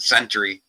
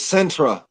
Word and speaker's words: Centre: I mean, we're even called Center County, but it's spelled CENTRE. Everyone calls it Century. You can thank the Amish for that. Damn, probably. It's Centra.